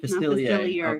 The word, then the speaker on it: Facilier: Facilier.